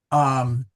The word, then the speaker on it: iam: It's Yam, I-A-M. Yeah. And the reason is this is the infamous consonantal I. So you will sometimes see it as jam. It's not pronounced jam, but still pronounced yam.